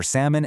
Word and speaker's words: salmon: Notice how we leave the L completely silent. You definitely want to avoid the incorrect salmon. Just imagine the L completely swam away.